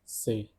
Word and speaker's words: ces: The pronunciation of each of these adjective demonstratives is so, second one is Cette, third one is also Cette, fourth one is say.